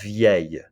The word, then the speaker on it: vieille: Try it, vieille. D'accord? Vieille. Just like famille and bouteille, you've got vieille. D'accord? A little Y sound at the end. Where you're tempted to put an L, vieille.